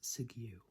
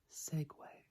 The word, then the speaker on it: Segway: Segway Segway Segway many people pronounce this as sigue which again I can see but it is Segway Segway Segway Segway Segway